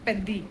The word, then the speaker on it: Peddi: पेड्डी हम इसे गलत प्रोनाउंस कर रहे हैं, इट्स पेद्दी।